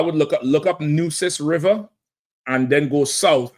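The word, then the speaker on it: Nueces: So I would look up look up Nus River and then go south and see if you find a Tampo region. Okay. All right. N E Wis N EU. It's like deuces.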